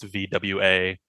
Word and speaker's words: voir: It's like so like weirdly, clearly someone gave him like a phonetic thing that said VOIR is pronounced VWA.